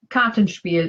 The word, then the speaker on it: Kartenspiel: And phrase 15 is Kartenspiel. And Karten is cards, Spiel is game. So I'm going to go with card game. But is my pronunciation correct? Kartenspiel is a card game, yes.